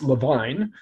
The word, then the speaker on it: Levine: was miss uh miss levine she pronounced it levi not levine because because because it